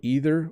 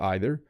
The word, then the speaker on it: either: and neither in Canada so either or either neither or neither I use both pronunciations I don't know why my only explanation could be that there might be a British pronunciation and an American and because Canada is a mix of both sometimes I say both so um I this